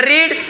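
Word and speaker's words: read: पढ़ना को बोलते हैं रीड, रीड का रीड, रेड, रेड, रीडिंग, रीड्स, ये होता है स्पेलिंग सेम होता है बट उसका जो प्रोनंसिएशन होता है वो डिफरेंट होता है.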